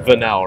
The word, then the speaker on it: Vanel: Your last name's pronounced Vanel, right? Yeah, okay.